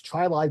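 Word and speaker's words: Chili: over to Chai Junction which is spelled Chile like Skyline Chile but New Yorkers are weird they pronounce things funny so it's chive Junction uh we had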